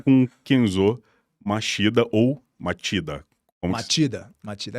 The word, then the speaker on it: Machida: Matida. A escrita é Machida com CH, mas a pronúncia é Matida.